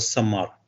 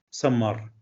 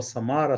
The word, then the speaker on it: Самар: в нашій українській мові самар Ну не будуть Так напружена вимовляти р без м'якого знаку тому в кінці-кінців це перетвориться і фактично буде лунати слово Самара Самара самарці і тому